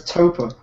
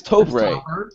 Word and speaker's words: Topre: Let's talk about the way you pronounce Topa. It's Topre. Okay. So So it is an abbreviation of the words Tokyo Press.